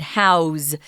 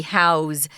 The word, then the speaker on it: house: use the z sound house to house somebody you can't say i want to house you that's wrong so remember if house is a verb you pronounce it with a z house to house something or